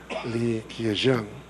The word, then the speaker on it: Li Keqiang: we were able to meet with Chinese Premier Li Keqiang, correctly pronounced, and all the arrangements were made for